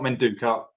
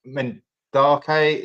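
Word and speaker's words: Madueke: But I think some of our wide players, I always say it wrong, Menduka. It's not Menduka. Mendake.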